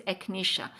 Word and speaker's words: echinacea: So, it is the pronunciation this word is echinacea.